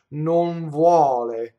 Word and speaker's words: vuole: So to say V, my bottom lip touches my top teeth, right? My lips don't come together. Vuole. So now the N will assimilate and go right there. It won't go in my mouth.